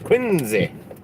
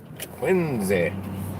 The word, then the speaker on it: Quincy: She said I was pronouncing it wrong. It's not Quincy, it's Quincy. Quincy.